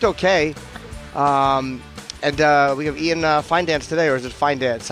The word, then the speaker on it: Fidance: Doesn't it sound like there should be an N in there? It does. The first time he was on, I had to do a couple walkthroughs before, as I was pronouncing his name, figuring out exactly what the spelling is and everything. Yeah, but it's Ian Fidance.